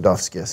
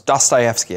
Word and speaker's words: Dostoyevsky: anything and i'm sure i'm pronouncing duff's gift it's pretty close dostoyevsky i think it is there you go